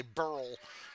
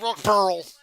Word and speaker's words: Wilkesboro: How come they don't know how to say North Wilkesboro? People at Mikey say Burl. North Wilkesboro. North Wilkesboro. There's no L in borough. It's not borough.